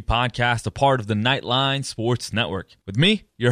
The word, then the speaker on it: Knightline: Knightline spelled like UCF Knight, K-N-I-G-H-T.